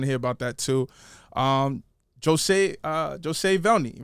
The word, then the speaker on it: Josue Velney: Josue Velney, right? Correct. Josue Velney. Said it right.